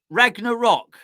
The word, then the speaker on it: Ragnarok: hold on a second it's ragna rock rag ragnarok not wreck ragnarok ragnarok sounds like a type of music doesn't it right oh